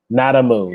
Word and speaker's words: Nadamoo: In other words, like the word nada. I just want him to spell it. So yes. N-A-D-A what? M-O. N-A, yeah, M-O-O, a moo like a cow. Like a cow moo.